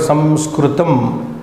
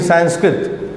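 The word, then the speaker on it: संस्कृतम्: derivation of this word Samskritam. But in English, Anglicized way of saying Sanskrit. In colleges and universities, we only say Sanskrit, but that is not the correct. Samskritam, that which is being refined.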